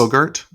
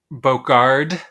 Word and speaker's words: Bogarde: This movie stars frequent collaborator Dirk Bogarde and a favorite homosexual of us. Also has... Did you say Bogart? Bogarde.